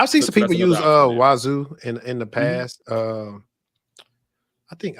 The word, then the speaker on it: Wazuh: It's called Wazoo. It's like I heard a free and open source SIM type of solution. It also has XDR in it. So I would say, hey, look that up. It's spelled WAZUH, but it does have